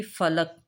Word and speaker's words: فلک: آپ کا ہے جی فلک، فا کے اوپر زبر، لام کے اوپر زبر اور کاف کے اوپر جزم۔ سحر، سین کے اوپر